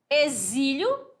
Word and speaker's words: exílio: alfabeto Observe aqui ó zebra exílio casamento que que nós temos aqui ó letras diferentes mas o fonema é o mesmo né Z som de z x com som de z s com som de z certinho as sílabas fortes são